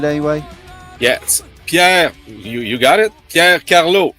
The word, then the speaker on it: Pier: world, and so let's welcome to the show Pier from Liva. How are you? Did I pronounce it right anyway? Yes, Pier, you got it?